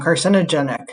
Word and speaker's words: carcinogenic: to have a vowel so car sin i wonder if this goes together okay so i'm gonna think actually i know but breaking it down carcinogenic okay but i'm not